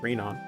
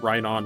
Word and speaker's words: Renon: It's pronounced Renon. My brain goes to Rhinon like a rhinoceros for some reason.